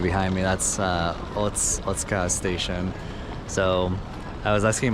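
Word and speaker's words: 大塚: So I was asking my cousin, and I guess that the U's aren't exactly silent. They're just not as fully pronounced as the other letters sometimes in words in Japanese.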